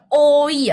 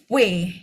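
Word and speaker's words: 외: Jadi yang ini tuh bukan oi ya, Teman-teman, tapi w W. Heeh. Betul ya. Ini e makanya kenapa saya bilang khusus karena dia ee sedikit berbeda dengan em kalau dipisah gitu ya. Kalau dipisah emang Oi, tapi kalau digabung W jadinya E ya.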